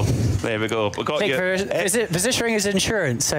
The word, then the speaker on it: Versicherung: I can't even pronounce that. Klick Verechungs team. You speak German, David. How do I pronounce that? Oh God, here we go. You put me on the Klick Versicherung team.